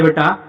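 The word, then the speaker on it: boat: तो जब ओ के तुरंत बाद ए आता है तो उस समय ए का प्रोनाउंसिएशन नहीं होता है। ए साइलेंट होता है। तो उस समय इसको पढ़ा जाएगा बोट।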